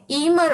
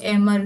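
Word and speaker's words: Emir: या फिर हम बोले ईर ऑफ कतर क्योंकि वहां पे ना ईर बोला जाता है या फिर एमर जो भी आपको प्रोनाउंस करना है वैसे ई एम ई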